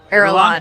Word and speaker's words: Irulan: Does a tiny desk have a pronunciation for us? Irulan.